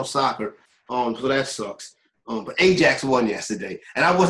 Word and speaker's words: Ajax: They pronounce it like a Y. It's like Ajax is they say it.